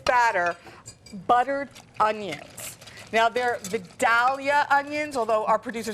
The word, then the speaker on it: Vidalia: Now, they're Vidalia onions, although our producer says Vidalia. Casey says that in the South they pronounce it Vidalia.